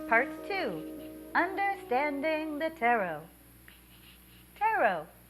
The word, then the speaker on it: tarot: two understanding the tarot tarot it doesn't rhyme with carrot some basics before we